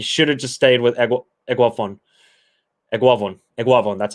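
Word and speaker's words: Eguavoen: You should have just stayed with Eguavon. That's how you pronounce it.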